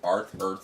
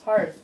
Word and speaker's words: Hearth: pronounce it. Earth. Hearth. It's the hearth of the fireplace.